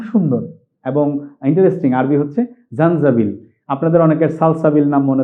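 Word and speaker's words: زنجبيل: আদার আরবিটা খুব সুন্দর এবং ইন্টারেস্টিং আরবি হচ্ছে জানজাবিল আপনাদের অনেকের সালসাবিল নাম মনে থাকতে পারে এরকম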